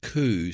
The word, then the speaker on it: coup: And that is a it's a coup. It's pronounced coup. C O U P. There's a P in there that no one talks about, but it's there.